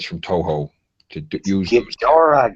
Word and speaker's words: Ghidorah: They bought the rights from Toho to use those Ghidorah, god damn it! It's not Ghidra. because he's like a Hydra.